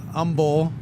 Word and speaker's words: Humboldt: That one's just that that one's just because you leave off the H of Humboldt. Uh Umbul, which is another one. You're just leaving the H off basically when it comes to sounds.